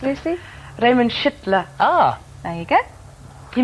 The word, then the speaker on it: Schüttler: Now, how is it actually pronounced, Lucy? Raymond Schüttler.